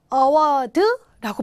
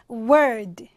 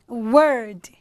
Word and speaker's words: award: 듣기가 어려운 이유는 상, award라고 발음을 안 하니까 뒤에 강세가 감으로써 앞에 모음이 상당히 죽어들게 됐습니다. 약하게 된다고요. 그래서 발음은 word, 다시요. word, 뒤에 강세가 받게 됐습니다. 그래서 award 아니고요.